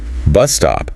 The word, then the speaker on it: bus stop: expecting a yes answer bus stop another compound noun with stress on the first word they're pretty sure there's